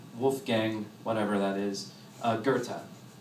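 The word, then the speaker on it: Goethe: Gang whatever that is Gerta Gerta it's spelled like goth so every time I like if you're going to Google this it's like go e t go Gerta and Gerta was a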